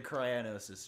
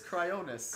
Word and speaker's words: Cryonis: So I'm guessing it's going to be near the Cryonosis trial. How did you say that? Cryonosis? I don't know how to pronounce Cryonis. It correctly. Cryonis? Pronunciate? Yeah, okay, whatever! It's Cryonis.